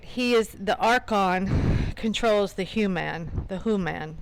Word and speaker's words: Archon: So, Archon, um, the H is silent, which is interesting because